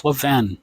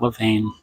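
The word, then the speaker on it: Levain: It's lavven, not lane.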